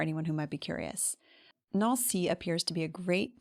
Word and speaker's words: Nancy: And a quick pronunciation note, the A in Nancy has the same sound as words like France, chanter, and jambe, that on sound.